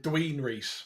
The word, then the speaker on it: Dwinrhys: And it rhymes with tween and Reese. Okay, so what is that? Dween Reese. Oh, okay. Oh, I feel bad now. It's all right. And rhymes with police.